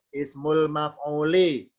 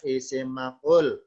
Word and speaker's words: isim maf'ul: Yang kedua sebelah kiri ismul maf'uli, bacanya isim maf'ul.